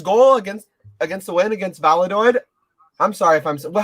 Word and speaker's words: Valladolid: Like the other day, before his goal against the win against Valladolid.